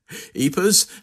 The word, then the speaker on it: Ypres: of the way early on is is the pronunciation of the name wiers thank you thank you thank you very much eers however you want very often when I'm on